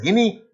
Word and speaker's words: Guinea: You have a country called Guinea. Ivory Coast. Guinea. Gu U I N E A. You pronounce it as Guinea.